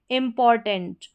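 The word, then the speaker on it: important: इम्पॉर्टेंट, इम्पॉर्टेंट यहाँ पर इसका उच्चारण है।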